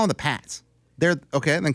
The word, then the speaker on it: Pats: and dumber the PS you call them the Pates well do it if you're going say it say it right you can't be B it's p a TS Pats it's Pats it's spelled the Pats that's the Pates how